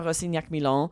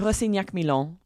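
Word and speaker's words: Rossignac-Milon: That was episode 2510, New York Times author Maya Rosignac-Milon. That's the French. Michelle gave you the English pronunciation. This is the French pronunciation.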